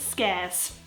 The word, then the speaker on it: scarce: I mean so yeah but it's not pronounced scar is pronounced scarce no idea why of